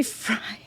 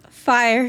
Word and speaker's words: Fyre: fry I did I say fry fire Festival I'm so sorry I remember this happening I don't know why I called it fry Festival probably because of I might be a little dyslexic because it's spelled FY r e ryex hi Exel hi